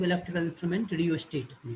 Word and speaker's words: rheostat: हाँ आर एच है, RHEOSTAT, रियोस्टेट, इसका अपने को रियोस्टेट बोल रहे, एच को साइलेंट जैसा सोच सकते हो, तो आर के बाद ई ही डायरेक्ट प्रोनाउंसिएशन में आ रहा है।